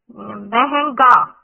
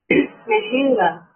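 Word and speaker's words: مہنگا: So when we say meh, the little bit go on meh, and when on n type, when we pronounce m, it go into nostril sound, a little bit sound went into nostril.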